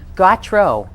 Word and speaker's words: Gautreau: bob gautreau's class and i actually say his name right you did gotro got god true okay but i you